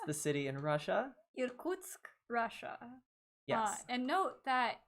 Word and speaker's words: Irkutsk: looks like from, I'm going to let Katya pronounce the city in Russia. Irkutsk, Russia.